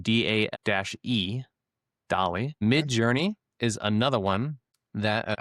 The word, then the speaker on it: DALL-E: It's spelled DAE, DALL-E.